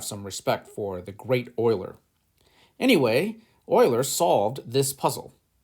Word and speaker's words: Euler: so let's have some respect for the great oiler anyway euler solved this puzzle the town of